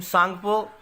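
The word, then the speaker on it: Tsangpo: टी is silent in this name. सांगपो इसका नाम है तिब्बत में और ब्रह्मपुत्र इस नदी का नाम है हमारे इंडिया में।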